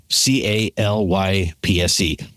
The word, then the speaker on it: Applocalypse: The reason that we've struggled with pronouncing this is it's Applocalypse, like apple and apocalypse together, which is how it ties into episode today. But man, it doesn't say apple and it doesn't say apocalypse.